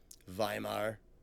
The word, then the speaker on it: Weimar: turned into Nazi Germany viar for those who are going to complain about the my pronunciation of it read the Constitutions they